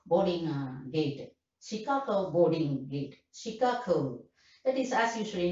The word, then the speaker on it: Chicago: That is, as usual, you know, we all non-native speakers stressing the first syllable. Chicago. The lady couldn't follow, then saw the ticket, then understood. Oh, I see. You want to go to that boarding gate bound for Chicago. Chicago. She stresses the second syllable.